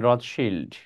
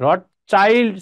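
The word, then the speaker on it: Rothschild: ছিল তার প্রধান ছিলেন রথ শিল্ড কে ছিলেন ওয়াল্টার রথিল্ড রথ চাইল্ড সি এইচ আইএলডি চাইল্ড অনেকে উচ্চারণ করে বাট রথ শিল্ড উচ্চারণ করাটাই অধিক শুদ্ধ এই রথ শিল্ডের কাছে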